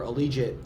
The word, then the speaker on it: Allegiant: So we played USC football, and that was kind of the genesis for Allegiant. Rhymes with collegiate.